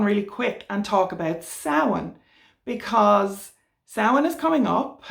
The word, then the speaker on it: Samhain: I will pronounce it Samhain because I'm Irish, and please, if you want to follow Irish paganism, it is a living language.